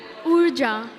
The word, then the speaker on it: Urja: URJA.